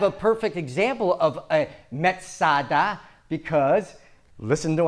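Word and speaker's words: מצדה: Now, Masada is just the Roman way, Gentile way of pronouncing the Hebrew word Metzada. They heard Metzada, they call it Masada.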